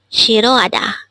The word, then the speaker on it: 싫어하다: discuss about the word Shiro Ada let's start learn Korean one word at a time only here at day hanko word number 303 this is pronounced as a four-syllable word the first syllable is